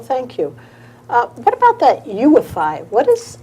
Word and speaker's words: UEFI: you what about that ufi what is ufi this is supposed to be something really new with windows 8. well uefi which is pronounced ufi is a new architecture